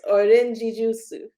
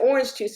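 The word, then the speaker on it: オレンジジュース: And when we ordered that, I said orange juice, and she had no idea what I was talking about. So I had to actually like pronounce it that way for her to get it.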